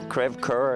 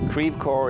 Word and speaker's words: Creve Coeur: Crève coeur, is that how you say it? How do you say it? Crève coeur. Crève coeur, okay, because French it would be crève coeur.